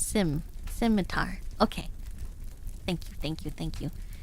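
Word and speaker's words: scimitar: yeah it's a curved sword thank you size pronounced Sim simitar okay thank you thank you thank you thank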